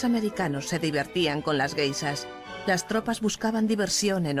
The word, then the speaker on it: geishas: Los soldados oyeron hablar de las geishas, guisas, como ellos pronunciaban, y creyeron que las chicas que se acostaban con ellos en los parques eran guisas.